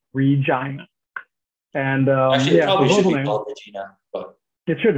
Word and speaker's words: Regina: It is the city that rhymes with fun. Yes, it's called Regina, not Regina, but Regina.